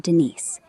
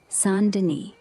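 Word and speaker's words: Saint-Denis: It's sand in French with a soft sand and a nasal ni at the end. So, St. Denise, not Denise. Is Sand Deni for that proper fancy vibe?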